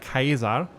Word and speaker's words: Caesar: Um, it would be pronounced something like Kaiser, which sounds very similar to the German word Kaiser.